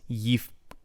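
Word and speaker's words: יפקד: Next, yifkod. Yifkod. So, is the shva here underneath the pei, is it vocal or silent? It is silent, right? Because the shva is alone in the middle of a word.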